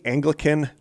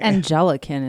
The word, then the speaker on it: Anglican: Raised in the Anglican de uh this word raised in the Anglican denomination of Christianity. Angelican is it? Yeah, maybe it is. No, Ang G L I K. I think that's Anglican.